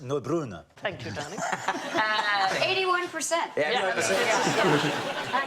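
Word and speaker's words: Neubronner: It's pronounced Neubrunner.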